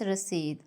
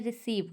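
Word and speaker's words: receipt: कहते हैं रिसीव लेकिन इसके स्पेलिंग में चूंकि पी आता है और लोग पी को साइलेंट नहीं करते हालांकि इसको साइलेंट करना पड़ता है लोग इसे पढ़ते हैं रिसीव जो कि बिल्कुल ही गलत है करेक्ट प्रोनंसिएशन है इसकी रिसी प्याज को इंग्लिश में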